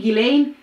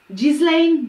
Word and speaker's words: Ghislaine: my best and also also gillane maxwell it just doesn't make sense to me gillane why is he not he's jizz lane jizz lane gillane i know that